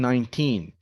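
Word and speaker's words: nineteen: I'm 19, pause, right? There's a period here. I'm 19. You can emphasize the teen. Stress the teen.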